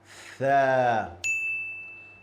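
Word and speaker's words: ث: When I say this letter, my tongue goes to the front teeth.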